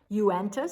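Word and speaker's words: Uintah: the area i was unfamiliar with how to pronounce the city's street names with their varied origins uenta spelled u-i-n-t-a-h native american vermaho spelled m i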